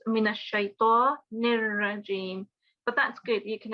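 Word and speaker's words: من الشيطان الرجيم: We don't have any noon or noon gunna. It's minash shaitanir rajim.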